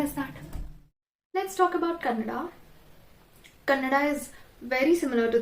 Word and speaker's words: Kannada: As I said earlier, in Kannada, when there is an extra A at the end, why do you pronounce it as Kannad? The Devanagari logic and all, it doesn't work here, no. It's Kannada, not Kannad.